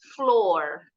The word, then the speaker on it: floor: Tapi ada juga O-nya 2 bunyinya O. In the word floor, door.